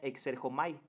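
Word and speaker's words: ἐξέρχομαι: 28 y 30 aparece una palabra en griego que se menciona se pronuncia exer jomai cuando Jesús dice yo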